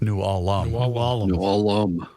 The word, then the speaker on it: New Ulm: You mispronounced that. New Ulm. New Ulm.